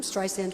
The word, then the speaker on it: Streisand: My friend Liza has the Z. I'm Sterisand with an S.